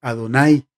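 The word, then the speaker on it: Adonai: la presencia de dios por eso el nombre de dios no se pronuncia las cuatro letras hebreas no se pronuncian los más sobre estás pusieron vocales y para pronunciar jehová o para pronunciar llave pero cuando llegamos al nombre de dios por ser impronunciable se dice ado nay siguiendo la tradición judía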